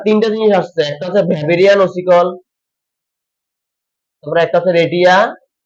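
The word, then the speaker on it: Weberian: WEBER, ওয়েবেরিয়ান ossicle. কিন্তু আসলে বাইরের দেশে ডাব্লিউ কে ভ উচ্চারণ করা হয়, মানে যদি একটা যাইতেছে কি ওয়েবেরিয়ান, তাই না?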